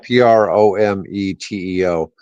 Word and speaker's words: Prometeo: A company called Green Navy announced that it's Prometeo. It's kind of spelled like Prometheus, but right. Prometeo.